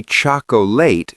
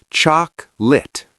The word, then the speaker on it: chocolate: In America, if you say choc-o-late, people will think you're a robot. It's two syllables, choc-lit.